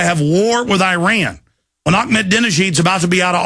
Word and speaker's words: Ahmadinejad: Or is it too much fun to hate Ahmadinejad because he doesn't look like you?